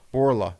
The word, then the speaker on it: Borla: mine works at uh bullard is it polaroid you say it right bulra bullara exhaust borla borla yeah borla they put the l in there borla and he was